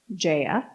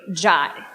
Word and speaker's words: Jaya: I told her my name, Jaya. She quickly corrected me. It's Jaya. I'm a yoga instructor and we say Jai. I kindly explained that while some people might pronounce it Jaya, I was pretty sure that my father from India and all my family in India had this one figured out.